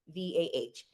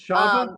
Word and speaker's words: Chavah: me on all of my platforms are @_its_Chava, CHAVAH. And It's Chava, not Chava. yes, You that didn't. is the Jewish pronunciation, but I am not Jewish.